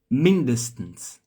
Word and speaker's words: Mindestens: Mindestens. Então, Servus. Diretamente do sul da Alemanha. Só que não. Ó, essa aqui, ó, a sílaba tônica tá no início, tá?